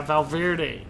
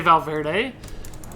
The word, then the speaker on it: Valverde: The reason I say that is because, I say Valverde, is because I'm a cycling fan, professional cycling, and there's a guy named Alejandro Valverde, and I say it like that because that's the name I know.